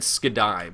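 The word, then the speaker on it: Skadi: scatty coming out next I hope that's the right pronunciation I always said Skai but people said that I said that word funny so we're going to say scatty here I of scatty going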